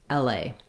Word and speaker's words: L.A.: a diphthong in la we stress on the a so the l is kind of shorter and the a is longer it has some secondary stress on l because i do have a clear vowel there as well la so